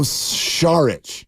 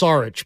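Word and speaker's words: Šarić: know my team Dario shich yeah shich it's not pronounced sarich by the way um Mark it's Char Char Char yes I'm the one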